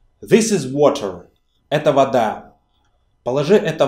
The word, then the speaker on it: вода: Это вода. Положи это в воду. Put this into water. As you see, the stress here moved from the last syllable to the first.